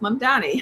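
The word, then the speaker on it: Mamdani: N D A N I M and it's pronounced Mondani.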